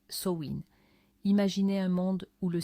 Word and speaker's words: Samhain: Le 2 novembre trouve ses origines lointaines dans la fête celtique de Samain prononcé Soin.